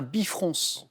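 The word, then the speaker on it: bifrons: à deux visages opposés c'est un bifron avec le S qui se prononce à la fin en archéologie comment nomme-t-on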